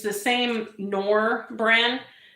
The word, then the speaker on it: Knorr: I'm actually using the cubes, but it's the same Knorr brand. I think the K is silent, but the powder kind does have a bit of a different flavor.